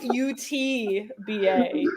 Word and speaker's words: Utba: Utba. Utba. It's UTBA.